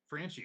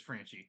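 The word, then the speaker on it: Franchy: I'm going with uh I think this is correct pronunciation Frankie Cordero France Yankees franchi okay it is franchi I'm pretty sure it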